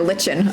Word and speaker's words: lichen: Do you pronounce it Lyken or lichen? I know people who pronounce it both ways.